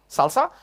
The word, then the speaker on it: SLSA: It's pronounced Salsa, but you will notice there is an A missing. That's not a typo. It's actually written this way. It's SLSA, Salsa, which stands for Security Level of Software Artifact.